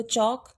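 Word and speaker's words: chalk: उसको बोला नहीं जाएगा जैसे पहले हम लेते हैं चौक इफको चौक पास में जो l है उसका साइड नहीं आ रहा है तो इसको हम क्या करेंगे इस साइलेंट हो गए इसको अंडरलाइन कर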